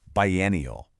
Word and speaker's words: biennial: Listen to how it sounds. bi-ennial When you hear that